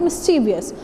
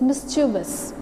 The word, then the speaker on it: mischievous: And you speak it mischievous, but this is not mischievous, this is mischievous. Mischievous. Mischievous. What is it? Mischievous. So here E sound is not the mischievous.